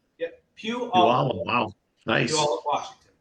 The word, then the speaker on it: Puyallup: So it's Puyallup, like Puyallup. yep, Puyallup, Wow, wow.